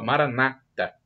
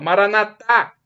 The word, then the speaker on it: Maranata: Eles colocam a tônica na penúltima sílaba, Maranata. Nós, católicos, colocamos na última sílaba, Maranatá.